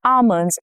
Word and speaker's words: almond: She sprinkled almonds on her dessert. Almond. Silent L shows up in many words like almond, calm, balm.